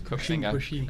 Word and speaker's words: Koxinga: Kochinga. Yep, that's 30 on the bonus. That is Koxinga.